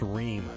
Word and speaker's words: Ream: It's pronounced Ream. What? My last name is pronounced Ream.